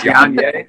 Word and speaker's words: Ye: I think that's how you pronounce his name. Yanye? I think it's Yanye.